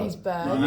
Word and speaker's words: Happisburgh: Happisburgh.